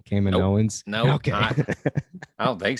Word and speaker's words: Kaminoans: We have finally learned how to correctly pronounce that, by the way. Thank you, Rebel Scum Texan again. Kaminoans.